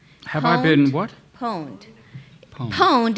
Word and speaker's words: pwned: I been what pwned pwned is spelled like owned like I own something but with a p I know it sounds